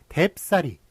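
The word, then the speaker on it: 댑싸리: 대쌀이 이런 식으로 뭐 대 플러스 쌀입니다만 이게 뎁쌀이라고 발음이 된단 말이에요. 비읍이 덧붙는단 말입니다.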